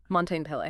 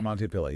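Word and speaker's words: Montagne Pelée: Montaigne-Pelé. Montaigne-Pelé, yeah. Yeah, the source material makes a point of the correct pronunciation.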